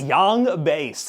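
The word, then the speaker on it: Yaung Bass: The name is Young Bass, and it's spelled wait, no. Yang base? All right, really. Y-A-U-N-G bass. Yang base. It's Young Bass.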